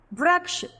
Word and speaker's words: वृक्ष: वृक्ष में व पर हमने रे की मात्रा का प्रयोग किया है तो व्र। व के साथ हमें उच्चारण में र का भी ध्वनि हमारे अंदर से निकलेगी, तभी वो हुआ व्र।